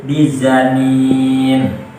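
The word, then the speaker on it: بِظَنِينٍ: Wa ma huwa 'alal ghaibi bidhanin, Ibnu Katsir, Abu Amr dan Al-Kisai membacanya dengan memakai za sehingga menjadi bizanin.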